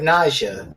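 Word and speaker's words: Najia: Which kind of sounds like nausea when you say it. Yeah, I thought it was Nadia at first, but it's not. It's Nausea. It's spelled with a J.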